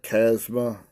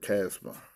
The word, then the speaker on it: chasma: And this next word, 5490, it looks like chasma.